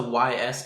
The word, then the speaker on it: Ys: Oh, is this the YS game? Yes. I think people just call it YS, don't they? No, it's pronounced Ys.